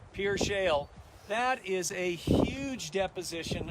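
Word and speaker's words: Pierre Shale: Just over the hill, that huge valley is what we call the Pier Shale, or it looks Pierre, but it's pronounced Pier Shale.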